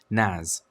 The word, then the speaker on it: NAS: A relatively affordable solution for file storage hardware is to use a network attached storage, or NAS, pronounced NAS, instead of setting up a dedicated server like you would other services.